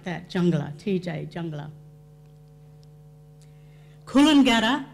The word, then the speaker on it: Coolangatta: jungle at TJ jungler Coolangatta is Coolangatta because D is T is pronounced like a D Coolangatta P is pronounced like